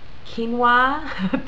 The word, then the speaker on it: quinoa: the rice and the quinoa. Thank you to, I forget the subscribers that helped me pronounce this grain correctly, but quinoa.